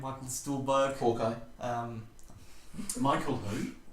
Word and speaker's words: Stuhlbarg: guy from Call Me By Your Name, Michael Stuhlbarg. Hawkeye. Michael who? How do you say his name? I don't know. Who is Yeah, he? Stuhlbarg.